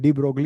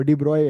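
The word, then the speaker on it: de Broglie: डी ब्रोगली होता है ना, वो डी ब्रॉय है वैसे.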